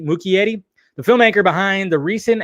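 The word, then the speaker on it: Muschietti: book crossovers directed by Andy much Yeti which I always say his name wrong right M Muki Yeti the filmmaker behind the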